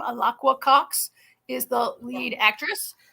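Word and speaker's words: Alaqua: I have up is aaka alaka I think is how you say her name alaka Cox is the lead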